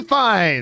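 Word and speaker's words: Fiennes: and i was like no yes ray fines and he's the number one actor in that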